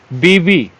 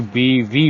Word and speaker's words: बीवी: नीचे में ठीक है बीबी इसको भी गलत लोग उच्चारण करते हैं कितने लोग 99 पर लोग गलत शब्द बोलते हैं जबकि बीवी होता है व लगा रहता है लास्ट में ठीक है बीवी होता है ना कि बीबी बल्ब या बल्ब की